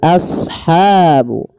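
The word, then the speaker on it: أصحاب: Kemudian pada lafal ashabu asha sadnya tebalkan as jangan ashabu jangan sin tapi dia huruf shad sesuai dengan makhraj dan sifatnya.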